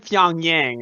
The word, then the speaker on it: Pyongyang: hmm so he said pyongyang right yeah so pyongyang rhymes with pyeongchang which is where they